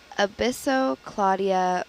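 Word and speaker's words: Abyssocladia: name of that sponge before I go was a Bissell Claudia Brunei so that first word is spelled a B Y SS o CL a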